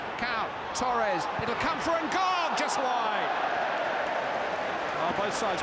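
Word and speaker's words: N'Gog: a French under-21 international, and we've called him Ngo for much of his career, but he's been offered a chance by Cameroon recently, and he now prefers the African pronunciation Ngog, incidentally.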